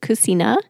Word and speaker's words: Cucina: I know that you could also pronounce it Cucina the Italian way, but I always say it like the American way.